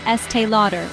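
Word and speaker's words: Estée Lauder: list was s Lauder remember it's not s Lauder or S Lauder the correct pronunciation is Estee Lauder with a long a in Lauder following SD Lauder we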